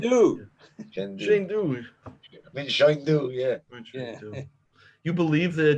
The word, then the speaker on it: Chengdu: What's the pronouncing? Chengdu? He has a very heavy accent. Chengdu.